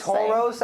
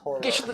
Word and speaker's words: Tauros: It's pronounced Tauros. I remember in the Pokemon rap, it's pronounced Tauros.